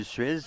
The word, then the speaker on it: Suez: on parle du canal de Suez, par exemple, on le prononce.